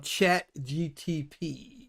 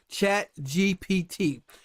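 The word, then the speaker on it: ChatGPT: now have heard of chat GTP did I say that right chat G G PT I say it all I say it wrong every time chat GPT um it's the AI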